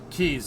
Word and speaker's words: quays: Yeah, keys. It's spelt like it's quays, but it's keys.